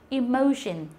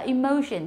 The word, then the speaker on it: emotion: Đấy, ví dụ như là từ có từ emotion, chúng ta đọc là emotion chứ không phải là emotion. Emotion rất nhiều người đọc là emotion nhưng mà không phải như thế nữa.